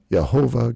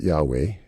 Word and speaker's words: Yahweh: see here it goes yahovah God and that's another way of pronouncing uh Yahweh you can put a few vowels in there yahovah and you can get yahovah or Yahweh ilim and it this